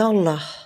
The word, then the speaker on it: Allah: Le premier nom est Allah. Il se prononce de la même manière que ce soit en arabe, en français ou en anglais.